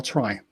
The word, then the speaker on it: trie: in the introduction that you can say the word tree as tree or trie. It's TRIE, and I specifically choose to pronounce it tree so that I don't get known as being both the catch guy and the try guy.